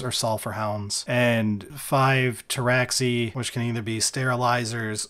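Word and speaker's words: Pteraxii: sulfur hounds and five traxi which can either be sterilizers or Sky stalkers the P silent the p is silent deep cut for people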